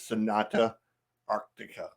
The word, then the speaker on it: Sonata Arctica: go um I'm with chy and the correct pronunciation is Sonata Arctica I knew I was gonna